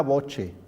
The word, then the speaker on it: voce: Y esto se pronunciaría una voce.